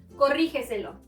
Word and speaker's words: corrígeselo: Corrígeselo. Encontramos la sílaba tónica en ri. Por lo tanto, se encuentra antes de la antepenúltima sílaba. Última, penúltima, antepenúltima, antes de la antepenúltima. Y debemos acentuarla siempre. Corrígeselo.